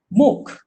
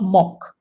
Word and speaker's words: MOOC: really moving exploded so MOOC not muck please don't pronounce smoke baby mister will be dr.